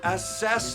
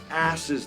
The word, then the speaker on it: assess: okay stop stop what it's assess the window not ashes the window you put the wrong emphasis on the wrong syllable and so you can